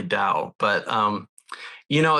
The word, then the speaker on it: Tao: people uh well in in current Mandarin it's definitely Dow but um you know